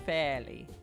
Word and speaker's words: Fairly: how do you pronounce how do I pronounce your name fairly it is pronounced fairly yo hi Melinda